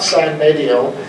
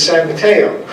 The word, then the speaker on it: San Mateo: happy to have you it's not sign video it's San Mateo and I was when